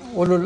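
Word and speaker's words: أولو: Ulul arham, ulul albab, ulul albab. Ya ulul albab. Oh, people of understanding. Naam, ulul azm. So ulu, where the waw is not pronounced.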